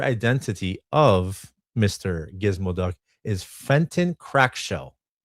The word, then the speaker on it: Fenton Crackshell: Gizmo is Fenton Crackshell. Fren Crackshell. Fenton crack shell. Fenton. Wait, how do you pronounce this?